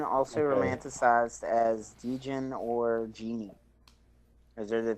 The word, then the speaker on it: Djinn: It's Jinn, also Okay. romanticized as Djinn or Genie. Those are the three names for it. It's still just pronounced Jin with the D there. The D's silent.